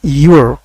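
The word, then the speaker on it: you're: যেমন উয়ার উয়ার উয়ার অনুরূপভাবে ইউয়ারকে আপনি বলতে পারেন ইউর ইউর ইউর ইউর এভাবে ইউর ইউর উর উর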